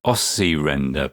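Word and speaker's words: osci-render: to fade you out I think it's uh pronounced osy render because it generates sound that looks good on an oscilloscope ah now I think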